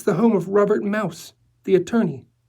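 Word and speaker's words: Maus: It's the home of Robert Mouse, the attorney. M A U S, but he uses the German pronunciation.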